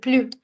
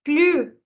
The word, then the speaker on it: plus: When the sentence is negative, we pronounce plus. Je ne veux plus de café. I will not say plus de café because I'm using negation.